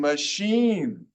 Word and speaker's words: machine: It sounds like an E sometimes in machine, magazine, material, movie, radio, serious.